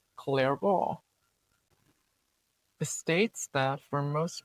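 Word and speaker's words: Clairaut: Next up is Clarable's theorem pronounced clear.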